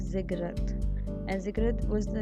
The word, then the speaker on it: ziggurat: word i have underlined this is pronounced as ziggurat and zegra was the